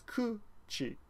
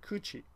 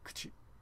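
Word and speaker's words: くち: Another example that I read about, but I never noticed, was kuchi. It's kuchi. And some foreigners, I guess, will pronounce it kuchi. But it's really kchi, kchi, you know?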